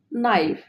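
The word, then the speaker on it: knife: না কে এর পর এন হলে কে এর উচ্চারণ হয় না যেমন নাইফ এফ যেহেতু কে এর পরে এন বসেছে তাই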